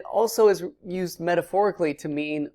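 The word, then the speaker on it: מִי: or who did it, it's the word me. Who? Me? It's a very helpful way of remembering that. Who, me, is how that's pronounced.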